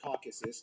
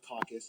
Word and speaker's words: Caucasus: By the way, it's pronounced Caucasus, not Caucus. A caucus is when a ton of politicians make an excuse to get drunk.